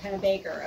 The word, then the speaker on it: Pennebaker: It's pronounced Pennebaker. Okay, yes. So you do pronounce the other E.